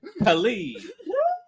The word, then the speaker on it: Kali: We have Khali. So, did I pronounce that right?